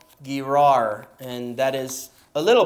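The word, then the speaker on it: Gerar: Shur and stayed in gr or garag however you want to pronounce it but it is a hard G sound we know that for sure alright Abraham on the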